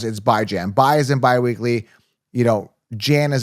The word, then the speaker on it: Bijan: If you're new to the channel, yes, that's how you pronounce it. It's Bijan. Bi is in bi-weekly, Jan as in Rand, not Bijan. Like I don't see a Beejhon anywhere. It's Bijan. I pronounce things, by the way, I do things on my terms.